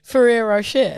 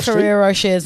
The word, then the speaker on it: Ferrero Rocher: Like, Can you just let me eat my Ferrero Rochers in peace? It's got to be Ferrero Rocher. Ferrero Rocher. You're saying Ferrero. You're saying What? Ferrero Rocher. It's like you're pronouncing the last R's.